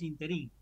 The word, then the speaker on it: ínterin: a la gente que no, es ínterin, es esdrújula. Ay, suena raro, pero ¿cómo no te va a sonar raro si nunca la escuchás bien pronunciada?